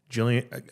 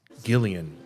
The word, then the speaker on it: Gillian: I was at um Jillian I understand now it's it's Gillian well not I'm me saying I've been pronouncing the G with the soft J sound or whatever it's the whole GIF GIF um Gillian Welsh and David